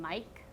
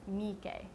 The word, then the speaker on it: Miike: And each syllable in Japanese is actually pronounced the same length, and except if it has the double vowels, which the double vowels are pronounced longer.